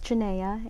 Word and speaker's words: Janayhe: about yourself janea yes many people have trouble pronouncing my name but they never forget the face right again my name is janaya and I have been in the island since